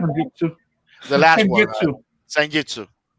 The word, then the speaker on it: Senjutsu: My number 10, I will probably say the new one, Senjutsu, or however the fuck it's pronounced. Yeah, it's Which called one? Senjutsu.